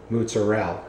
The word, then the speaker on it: mozzarella: Where I grew up in North Jersey, we pronounced it mozzarella. You don't say the at the end, and you put the moots.